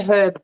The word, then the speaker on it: herb: time for food yeah we say herb properly i don't like the way americans say herb put the h back i need a drink